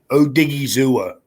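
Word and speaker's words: Odighizuwa: Third round, they got Osa Odigwaza, I think how you say it. Chancey Golden and Nashawn Wright. Fourth round. Say Odigizua.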